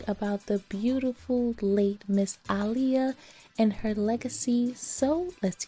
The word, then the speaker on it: Aaliyah: she did and yes her name is pronounced Alia I saw in one of the comments in one of my previous hair videos someone tried to correct the way I was saying her name when if you're a real fan you know her name was pronounced as aah as she stated multiple times in interviews especially in the 9s